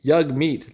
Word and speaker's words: Jagmeet: is so sad here's yag meat pronounced yug rims with hug rhymes of hug meat yug meat leader of Canada's new